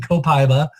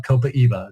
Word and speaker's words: copaiba: some people are saying copaiba there's different ways to pronounce it but the actual tree is from Brazil and in Brazil they call it copaiba so I like to